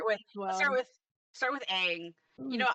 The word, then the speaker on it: Aang: with aang you know i almost literally my brain was telling me to say it wrong to piss people off i was literally i was literally back like let's talk about ong my brain was like